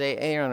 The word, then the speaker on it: Aaron: Where is a Aon right now? The guy's actual name is Aaron, but it's pronounced as a Aon.